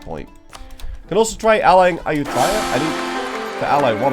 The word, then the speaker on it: Ayutthaya: Can also try allying Ayutthaya.